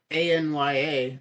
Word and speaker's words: Anya: which I always thought her name was Anya a-n-y-a I've always thought lasagna but they're like Anya Anya Anya and it's not like uh that is a you know that's not how Japanese would pronounce it either Japanese would also pronounce it on you so uh the fact that